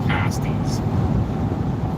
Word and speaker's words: pasty: miners I think they're I I think they're pronounced pasties we that's that's it remember I got one